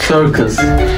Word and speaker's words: Circus: Dijital Cırcız nasıl okunuyor Enes İngilizce olarak? Circus. Ben Cırcız. Yani başında söylesene. Dijital Circus. Ha işte ondan.